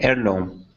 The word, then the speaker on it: heirloom: heirloom right heirloom okay do you hear an H uh nope is the first syllable stressed no I guess it's the second one heirloom heirloom no no it's the first syllable stress but there's no h so that that blows